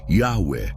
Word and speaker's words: Yahweh: O guidaga, pronunciado corretamente, Yahwé, que invoca o verdadeiro pai supremo e anula o poder dos governantes das trevas.